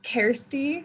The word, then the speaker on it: Kersti: your name it's kirsty so it's kirsty like care bear uh-huh and then spute